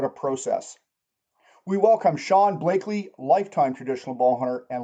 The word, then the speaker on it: Bleakley: Uh, Blakeley. Long a Blakeley. There we go.